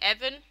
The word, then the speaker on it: Ivan: thanks to you cool my real name is Ivan but you read it like Evan I always say either